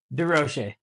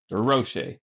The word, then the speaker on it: Durocher: Durocher. Durocher.